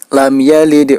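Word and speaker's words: لم يلد: Huruf dal, cara memantulkannya yaitu menyerupai huruf e. Lam yalid wa lam yulad.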